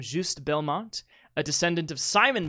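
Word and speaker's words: Juste: one great question uh it's a French name so it's it's j s but I think it's is how you say his name juust Belmont a descendant of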